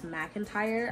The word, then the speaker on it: McIntire: Honestly, I was not really sure how to say her name until one day it randomly hit me that it's McIntire.